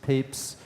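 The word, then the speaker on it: Papez: is this scientist named James peeps it's pronounced Papes and he was the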